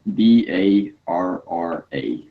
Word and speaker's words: Barra: It's called BARRA, Barra. How to pronounce it?